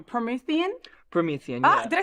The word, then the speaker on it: Promethean: Let's talk about I don't want to say the name wrong. Promethean.